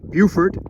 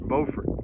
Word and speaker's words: Beaufort: also over there is beaufort south carolina if you know this coast in north carolina there's a town spelled exactly the same way but pronounced beaufort we left the marina at about 11.